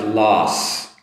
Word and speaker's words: loss: And next up is loss. So I have my L sound. You know, making that L sound, keep your tongue behind your upper teeth. L. And then ah, followed by a S. Loss.